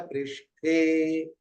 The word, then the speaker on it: पृष्ठ: हो तो ध्यान दीजिए दक्षिण भारत में पृष्ठ बोल प ठ बोलने में उनको दिक्कत होती है तो कर कर प आप कई लोगों को देखि यही बोले कन्नड़ वाले तेलगु वाले करतल प नहीं करतल कर पृष्ठ बस ये उच्चारण हुआ आज हमने कुछ मुख्य